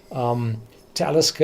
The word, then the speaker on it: Talisker: the English language countries, Talisker is pronounced on the first syllable. Every Gaelic distillery is pronounced on the second one, Clynelish, Lagavulin, Bo More. So they are pronounced on the second one, Talisker on the first, because it's Nordic.